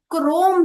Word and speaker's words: chrome: और वैसे ही जो क्रोम शब्द है इसमें सी एच को हम क क से प्रोनाउंस करते हैं, क्रोम।